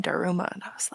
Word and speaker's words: Daruma: Okay, so I always assumed it was DarumaCreative, like Dharma, because I thought it was tied in with the Dharmatic wheel, which is when you're